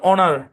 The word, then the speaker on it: honour: তো এখানে এইচটা সাইলেন্ট। তো এই শব্দের উচ্চারণ হচ্ছে অনার।